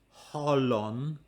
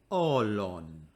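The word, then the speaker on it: ὅλον: me orlon note that we do not say the rough breathing it's not hollown it's orlon do soma soma normally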